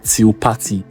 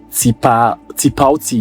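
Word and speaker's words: Tipalti: Is to create, they use a payments platform called Tilpati. I don't know how to pronounce it. Tipauti, yes.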